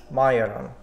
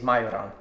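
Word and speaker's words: majorán: We have cumin, coriander, as well as majoran. That's how I pronounce it in Slovakia. That's how we say it, is majoran.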